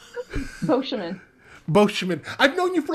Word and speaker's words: Beauchemin: indeed everybody this has been the Reverend Christina bouman bman God lord I messed that up how do you say your last name bman bman I've known you for like 10 years